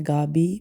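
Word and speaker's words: Gavi: उसका नाम है गाबी। प्रोनाउंस उसको किया जाता है। गाबी बट it's written as जी ए वी आई।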